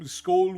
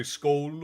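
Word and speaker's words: Skål: Many salutations, Skoll. I think that's the right term. Skoll would be cheers in, it would be Norse or Swedish or Icelandic. You can say Skoll or Skoll.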